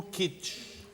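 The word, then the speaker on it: kitsch: que é uma palavra de origem alemã que se escreve k i t s ch. O kitch, a arte do kits é muito difícil definir.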